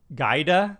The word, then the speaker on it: Giada: but she also has another ability um says pronunciation is gaida oh wow oh boy oh boy that's not